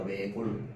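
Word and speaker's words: 외곬: 외골. 알겠죠? 자, 그래서 어떻게 발음된다? 리을로 발음됩니다. 알겠죠? 그래서 발음이 외골이야.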